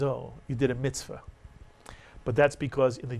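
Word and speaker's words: מצוה: You'll hear people say mitzvah, but the actual pronunciation in Sephardic Hebrew is mitzvah, and it means commandment.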